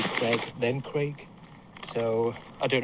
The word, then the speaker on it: Craig: actor should I say it doesn't rhyme with egg. It's not Daniel Craig. It's Daniel Craig. Okay. So it's a long vowel sound.